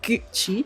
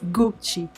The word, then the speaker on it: Gucci: and that's very similar it's just the U is just more like pure sound like Rawdon gucci is Gucci Gucci yeah that mother double-o anglish yes Gucci yes and then next